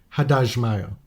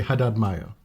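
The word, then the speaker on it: Haddad Maia: 4 different people are saying Haddad Maya, as opposed to what we've been saying previously, Haddad Maya. And when I hear it, I'm like, oh, of course, this makes perfect sense. Of course. Like Brazilian Portuguese, they would say that.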